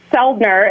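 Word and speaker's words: Soeldner: real website my real website yes is seldner and my last name is spelled s o e l d n r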